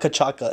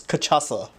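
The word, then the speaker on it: cachaça: oh no no no it's not kachaka it's kachasa if you've been to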